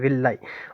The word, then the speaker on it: villi: ठीक है, विलाई भी समझ आ गया होगा, स्पेलिंग है VILLI, VILLI, विलाई।